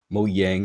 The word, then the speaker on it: Mojang: the devs of Minecraft, or Mojang is supposed to be pronounced, I think. Yeah, it is.